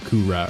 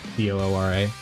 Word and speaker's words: Cooler: And keep in mind, it's like it's spelled like that because in Japanese they call him Kura, right? Like Koora.